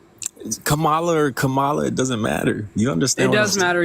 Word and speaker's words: Kamala: terms of the veterans what is what is Kamala gonna do for the veterans I don't know why you keep going out of your way to mispronounce her name Camala or Kamala it doesn't matter you understand it